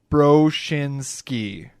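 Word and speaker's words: Broschinsky: with my last name it's like you broke your shin skiing bro schinsky obviously that's not how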